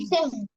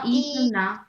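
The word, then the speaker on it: 医生: ইসেন। ন, ইসং না, ইসেন। ইসং না, দুইটাই প্রথম কনসো ইসেন। ফ্ল্যাট।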